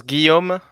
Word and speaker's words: Guillaume: So you pronounce Guillaume.